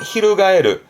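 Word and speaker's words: 翻る: 동사로 쓰게 되면 발음은 히루가에르, 히루가에르.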